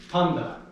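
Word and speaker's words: πάντα: That's a D, not a T. That's one of those special cases where N and T come together to make a N sound.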